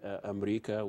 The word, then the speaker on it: Amreeka: So now you saw this new movie, Amreeka, which is, I like the title, that's how Arabs pronounce America.